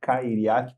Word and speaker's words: Cairiac: Ele me ajudou a pronunciar os do nome dele, Cairiak.